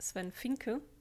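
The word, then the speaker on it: Swen Vincke: Aussprache korrigieren weil ähm es ist sen fininke das V V spricht man im holländischen nämlich scharf und das ist tatsächlich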